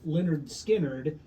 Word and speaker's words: Lynyrd Skynyrd: album uh so the debut album pronounced Leonard skinnard What's the title of